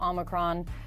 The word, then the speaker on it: omicron: developments on the new omicron coronavirus that's how we say it the name is omicron omicron omicron this new uh oh my crown vamos yeah i might be messing up the pronunciation of this the correct one